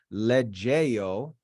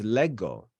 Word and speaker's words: lego: It's not legeo, it's lego.